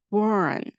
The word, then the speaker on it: born: 그때는 다 born, 그 길게 발음하시면 됩니다. born 이라는 영어로 번역이 됩니다.